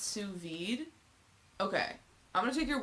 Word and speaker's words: sous vide: It's pronounced sous vide.